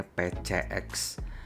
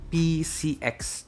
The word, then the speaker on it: PCX: ini bahacanya kalau mau pakai Bahasa Indonesia itu bacanya PCX atau kalau mau pakai bahasa Inggris namanya itu PCX Jadi bukan p c x karena huruf C